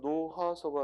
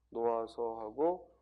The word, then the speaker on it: 놓아서: 다음 워낙 거칠어 놓아서 방금 얘기했지만 히읗은 뒤에 모음의 형태소가 오면 탈락한다. 따라서 노하서가 아니라 뭐예요? 노하서. 여기서도 여러분들이 알 수 있는 건 노타에 어미가 뭐예요? 아서예요. 어미가 아서. 그래서 노타라는 말에 어미 아서가 와서 활용했을 때 노아서하고 히읗이 탈락한다.